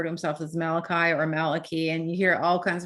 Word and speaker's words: Malachi: point out right now malachi martin always said that his name was actually pronounced maliki um and so he was always correcting people for that but then later on